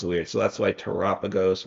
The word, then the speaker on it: Terapagos: But you could drop the Terapagos in. Yeah, you could. Also, how do you say? I think it's Terapagos, or you said Terapagos, but I've heard people say Terrapagos, which sounds weird to me.